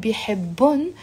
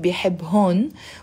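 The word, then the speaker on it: بيحبّن: And bihibbun, he loves them. Notice in the Lebanese dialect, we're not pronouncing bihibhun. We just pronounce it bihibbun. The H remains silent.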